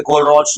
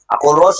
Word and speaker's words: Kohlrausch: अब छोटा सा लॉ है जो फेमस है, कोलरोच लॉ। उसका एक स्टेटमेंट है, उसपे वो थोड़ा मोड़ा कुछ सवाल बन जाता है। सवाल बनता कैसे है, फॉर्मूलाज को मिलाने पे। कोलरोच लॉ है बच्चा वाला चीज। कोलरोच लॉ होता क्या है ना, ओनली को तुम